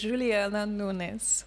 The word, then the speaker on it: Juliana Nunes: Okay, so normally is in Brazil is Juliana Nunes.